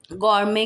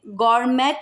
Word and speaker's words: gourmet: अब ये एक ब्रांड है गॉर्मे, गॉर्मे, इसमें गॉर्मेट नहीं बोलेंगे, ये गॉर्मे है, गॉर्मे।